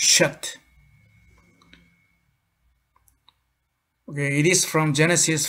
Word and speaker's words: Seth: This afternoon, we are going to learn about the word Seth, the third son of Adam, Seth. In Hebrew, it is pronounced Sheth.